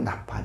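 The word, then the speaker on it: נפל: 그리고 이 서린 것이 떨어진다는 것이 이게 히브리 발음으로 이게 나팔이더라고요. 나팔.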